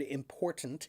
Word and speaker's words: important: he says the word important, he says it's very important. Important. Okay. It's almost like a soft D or like they take the the D out all the T out altogether.